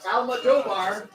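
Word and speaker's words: Almodóvar: By Almodovar. Oh, just like it sounds, Almodovar.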